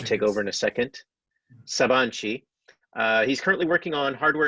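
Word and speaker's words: Sabancı: sheet sabang sabang G University Ernest please correcting pronunciation when you take over in a second Saban Chee he's currently working on hardware and software acceleration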